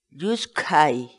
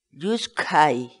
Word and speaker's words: lluskhay: de videos en la que te enseñamos a pronunciar algunas palabras en quechua Así que nuestra palabra del día por hoy es yus Kai yus Kai yus Kai la palabra quechua yus en español significa resbalar